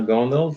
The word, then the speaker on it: Gondal: my guest here is that's right is that how you say it's good yeah my name is gondol thanks for having me